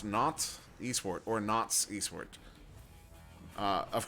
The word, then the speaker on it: Nantes: That's how it's pronounced. Nantes Esport, or Nantes Esport.